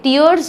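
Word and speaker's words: tiers: Plus next हम पढ़ेंगे different टियर्स और टायर्स। इसको दो तरीके से प्रोनाउंस करते हैं टीचर्स। टियर्स और टायर्स जो भी आप प्रोनाउंस करें।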